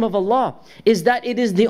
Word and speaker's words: Allah: We're making the lam heavier. And this is what we, how we pronounce the name. Unless there's a kasra before it, then we say lillahi alhamd. Otherwise, alhamdulillah. Or Allah, we say the heavy L.